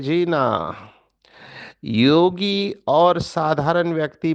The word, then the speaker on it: युंग: कुमारीज, ये नींद से जागने की बात है। देखो एक कोट है कार्ल युंग, जिसे भारतवासी कार्ल जंग कहते हैं। वो जंग नहीं है, उसका प्रोनाउंसिएशन, उच्चार युंग है, पर ठीक है, भारत में सब चलता है।